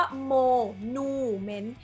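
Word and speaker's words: monument: M E N T แต่ เขา จะ ได้ ออก เสียง ว่า โมนูเมนต์ เพราะ จะ ออก เสียง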